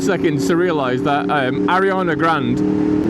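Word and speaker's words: Ariana Grande: to realize that um Arana Grand that's how her name's pronounced by the way like she's um she's backed off that fake T quite a bit it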